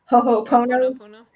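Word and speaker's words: Hoʻoponopono: And I don't know how to pronounce it right, but Ohopono or Ho'opono. Ho'oponopono.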